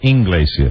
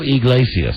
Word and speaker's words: Iglesias: You always pronounce the name. Is it Iglesias or Inglesias? That's why he likes me best, Mike. Because you mispronounce his name? Julio Iglesias.